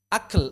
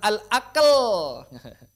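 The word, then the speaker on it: أكل: Akl. Al-akl. Al-akl. Jangan al-aql. Akl. Ak. Ya, begitu. Fikr. Fikr. Fikr. Begitu. Jadi hati-hati kaf tidak diucapkan tidak diucapkan qalqalah.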